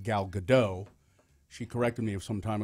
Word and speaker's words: Gadot: It's everybody wants to say Gal Gadot, and it's Gal Gadot. Dot. Yeah. D-O-T. Dot.